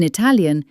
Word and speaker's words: Italia: In English, you might say I, but in Italian, it's always a sharp E sound like in sheep. I. I. Like in our country's name, Italia.